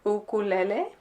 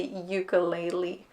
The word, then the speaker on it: ukulele: So the instrument comes from Hawaii, right? So the pronunciation there would be, or as close as I can get it to, would be more like ukulele, ukulele. But on like everywhere else they say ukulele or uke.